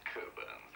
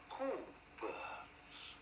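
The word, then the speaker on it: Cockburn's: It's Coburn's, actually. No, we don't pronounce the C-K. Coburn's.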